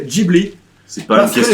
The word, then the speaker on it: Ghibli: Ouais, mais bon, Ghibli qui d'ailleurs devrait être, fun fact, il devrait être prononcé Ghibli.